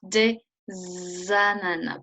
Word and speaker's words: des ananas: So here again, same thing, you do pronounce the S. So if you're still talking about the pineapple, like we were earlier, some pineapples, you write des ananas, pronouncing the S, okay?